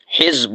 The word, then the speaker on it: حزب: صحابہ کرام کے لیے اولئک حزب اللہ، تو اس میں زا ساکن ہے، تو اس سے مراد کیا ہوتا ہے؟